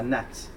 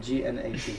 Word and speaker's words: gnat: It's called a gnat. It's got a silent G. It took me a while to figure out how to pronounce it. But G-N-A-T, a gnat.